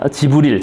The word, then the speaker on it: 지브릴: 가브리엘 천사, 대천사, 지브릴 저쪽 발음으로 가브리엘 천사로부터 가르침을 받는 610년에 계시를 받았다고 하고, 그러다가 헤지라로 이제 쫓겨가서 도망갔다가 다시 거기서 세력을 모아가지고 그죠?